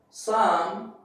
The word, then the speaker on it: psalm: In the beginning of the word, before S, the P is silent. Like psychology, psalm, sage.